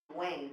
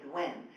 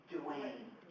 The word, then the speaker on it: Duane: I do see Duane over there: The triphthong in my first name does not occur in Spanish. Nobody can say Duane so they say Dwen.